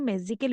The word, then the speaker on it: magical: Notice that the word magical is pronounced with more force on the first syllable, i.e. we say the first syllable more strongly than the others. ইয়াতে যিটো মেজিকেল ৱৰ্ড মেজিকেল শব্দটো আমি